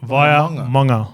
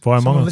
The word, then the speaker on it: Vaimauga: Via Manga. Yeah, fuck yes. Via Manga.